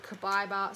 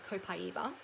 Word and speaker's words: Copaiba: Next is the Kabiba soft gels, which I have not even opened yet. So you may have heard me, I mean, the correct pronunciation is Copaiba.